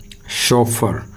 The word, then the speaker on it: chauffeur: उसको कहा जाता है शोफर। CH से यहाँ बन रहा है शे, शे, शोफर।